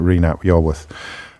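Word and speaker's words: Rhun ap Iorwerth: I think if Reen ap Iorwerth would have been a better crack of the whip, I think, Reen ap Iorwerth.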